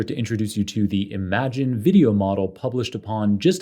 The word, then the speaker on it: Imagen: introduce you to the Imagine video model published upon just a few weeks ago by researchers from Google first let's talk about the clever name while pronounced imagine to allude to the creativity of the